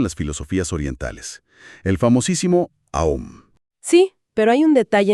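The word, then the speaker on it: AUM: Esotéricamente enfatiza con mucha fuerza que la verdadera pronunciación no es con u, sino con o. El mantra es aom.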